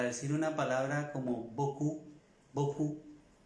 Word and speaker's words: beaucoup: una palabra como beaucoup, beaucoup, que hablados son, pronunciados son 4 letras, beaucoup, 2 sílabas, y escrito son muchas más letras.